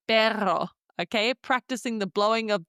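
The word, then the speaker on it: perro: Number three, the double R sound is going to sound like for example the word pero which means dock. And onto the retto of the day pronouncing the trilled R there.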